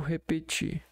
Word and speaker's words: repetir: Repetir, a sílaba mais forte é o ti.